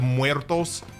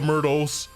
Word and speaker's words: Muertos: although by the way I'm like one I'm like of the 1% of people that I've heard say maze of muertos. I feel like I'm like the 1% of people who say it correctly. I've heard people say maze of the mytos. Maze of mtos. Maze of mto. Like bro, it's not that hard.